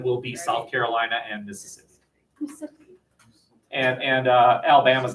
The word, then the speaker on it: Mississippi: use southern girls here you eliminate a syllable so it's not Mississippi its Mississippi sippy-sip not Alabama say it